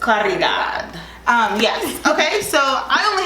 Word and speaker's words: Caridad: Twin and Caridad? Yes, I think that's her name. How you pronounce Caridad? Yes, in Spanish you roll your R, so I just Caridad.